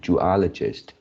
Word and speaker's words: zoologist: Yeah, the third line, yeah, this word, which is you pronounce as zoologist and zoologist. So the pronunciation should be zoologist.